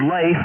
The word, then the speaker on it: Leif: First name's Leif, but it's spelled Lima Echo India Fox, has an A sound to it.